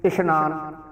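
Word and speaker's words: ਇਸ਼ਨਾਨ: इशनान सस्से के पैर के बिंदी ला के आप उच्चारण करांगे।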